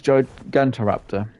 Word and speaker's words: Gigantoraptor: From what I know on the game mechanics for the Gigantoraptor, whatever you probably pronounce it as. Yeah. It's Gigantoraptor, which is kind of weird.